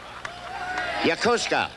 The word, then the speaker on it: Yokosuka: How do you say that? Yokosuka. Yokosuka, huh? I said that 3 times fast in rehearsal, and my tongue just got out of traction.